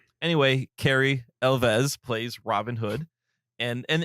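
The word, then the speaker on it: Elwes: This story stars Carrie, I believe it's pronounced Elves is how you pronounce his last name. It's Welsh. Yes. Like with V. Well, you you pronounce the W like a V.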